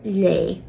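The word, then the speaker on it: léigh: plus IGH, such as the Irish verb lay, to read. Just like the previous category, you'll take away IGH to form the stem. So lay, to read, take away IGH, you're left with le, still pronounced the same, as the verb stem.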